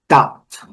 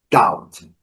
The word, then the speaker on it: doubt: Doubt. Doubt. Doubt. Temos aqui V, B, doubt.